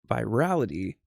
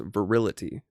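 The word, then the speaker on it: virility: effeminite squandering of the virality of true Christianity. Excuse me. Believe that's pronounced verility of true Christianity.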